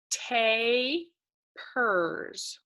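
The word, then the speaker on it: tapirs: have you heard of tapers and here is how you pronounce that word so you see teh pers let's read it one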